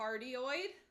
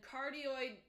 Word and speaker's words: cardioid: and cardioid. I might not be pronouncing it correctly, maybe I am, but a cardioid microphone sounds like cardio.